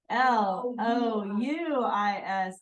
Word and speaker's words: Louis: stuff like that it's taser oh did I spell that wrong oh that's what you're trying to tell me l o u i s oh yeah yeah that looks better Louie some people say Louis your grandpa's Lou Lis